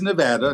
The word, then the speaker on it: Nevada: It is Nevada, not Nevada.